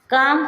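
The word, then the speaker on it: calm: talk में के से पहले एल आया एल साइलेंट रहेगा टॉक मींस बातें करना काम काम मींस शांत बाम बाम मींस मलहम का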